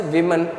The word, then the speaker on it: woman: woman what is a woman w-o-m-a-n it should be pronounced as woman w-o-m-e-n that should be pronounced as women woman means singular m-e-n